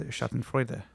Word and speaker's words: Schadenfreude: And you're going to be feeling all of that Schadenfreude, or however you pronounce it. Yeah, Schadenfreude. Wow. You're also better in German pronunciation.